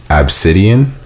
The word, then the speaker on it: Abcde: So the lady's daughter's name is spelled ABCDE, and it's Obsidian.